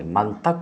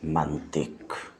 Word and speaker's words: منطق: بھی واضح ہے کہ کچھ لوگ منطق کی تا کو مفتوح بولتے ہیں، یعنی منطق بولتے ہیں، یہ غلط ہے، اس واسطے کہ لفظ نطق باب ضربہ سے ہے جس کے ظرف میں ما قبل آخر مکسور ہوتا ہے، لہٰذا یہ منطق نہیں ہوگا بلکہ یہ ہے منطق۔ اب نظر کیجئے مصنف